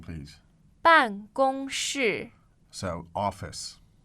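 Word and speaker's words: 办公室: So again, the pronunciation, please. 办公室。 So office. 办公室。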